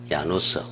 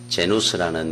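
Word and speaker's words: Janus: 야누스, 헬라어로. 이거를 영어 발음을 하면 제누스입니다. 제누스라는 이 단어에서 제뉴얼이라는 단어가 나온 겁니다.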